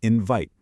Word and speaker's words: invite: Check out the word invite. The second part is vite. Now, think about it. If you took away that E, you'd have vit, which would be a closed syllable with a short I sound. But because that silent E is there, it magically changes the I from a short sound to a long I sound.